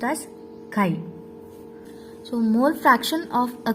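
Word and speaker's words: χ: It is pronounced as chi.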